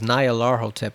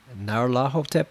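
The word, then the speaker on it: Nyarlathotep: wherever it goes I always thought it was n Laro tip but apparently it's Naro tip like you're supposed to pronounce the ner as one just this one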